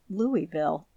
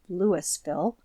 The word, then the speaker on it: Louisville: citizens there pronounce it Louisville it would sound harsh to them to hear it pronounced as it is spelled Lewisville the cilent sound of